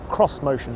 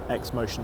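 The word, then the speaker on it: Xmotion: SUV concept this is the Nissan cross-motion not x motion despite the way it's spelled and it's not really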